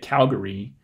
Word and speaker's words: Calgary: but I say at Calgary with three syllables and the first one is stressed the second syllable has a schwa in it I know a lot of people who are from Calgary actually say it Calgary